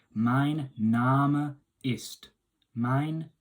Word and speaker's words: Name: Now you can see, obviously it's spelled the same as name in English, but we're saying Name, pronouncing the E, and the A is kind of like an R sound.